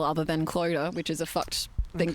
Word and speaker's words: Clodagh: I just need to cut it off and try and phonetically spell Clodagh, which it's not how it looks with a glorious Clodagh. How would you do that? Clodagh, like... Duh. Yeah, like D-U-H?